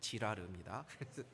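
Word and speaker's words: Girard: 하는 프랑스 철학자가 있습니다 발음을 조심해야 됩니다 지라르 이이 사람이 유명한 이론을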